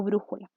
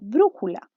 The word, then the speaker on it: brújula: En el caso de brújula. Brújula es una palabra que consta de 3 sílabas, ¿cierto? Pero justamente la sílaba tónica está situada en el tercer puesto, que es de las palabras esdrújulas, es decir, en la penúltima sílaba.